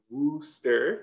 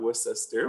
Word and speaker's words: Worcester: awesome so worcester um yes it's pronounced wooster yes not worcester but it's a college